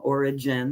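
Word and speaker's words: Origen: of different perspectives and Oregon is one of them origin if you want to pronounce it that way was one of those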